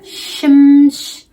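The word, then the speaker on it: شمش: I think we have the sound as well that is S-H, or it can be sometimes C-H is pronounced sh. Example, shimsh, shimsh, shimsh. Okay, so we pronounce it sh.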